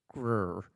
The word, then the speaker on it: Greer: Michael Castle is from Greer, South Carolina, pronounced Grr.